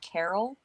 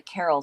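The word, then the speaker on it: Caral: famine one right after another it's called the carol uh i'm probably pronouncing wrong it's c-a-r-a-l it's the carol civilization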